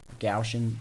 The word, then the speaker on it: Gaussian: frame one and we can see we've got gaui and blur gaussian blur excuse me proper pronunciation and it blurs it all the way